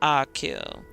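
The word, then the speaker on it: Achill: the province of kach pronunciation akill got it definitely been saying it wrong the entire time um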